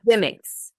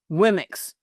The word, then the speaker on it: Womxn: Womx. Womx.